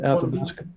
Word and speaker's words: Athabasca: Athabasca.